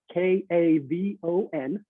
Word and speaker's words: Kavon: My first name is Kavon, Kavon. And for over 30 years, I've told people I've pronounced it as Kevin.